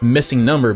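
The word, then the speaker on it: MissingNo: which is actually pronounced missing number because the no is actually an abbreviation for number is the most popular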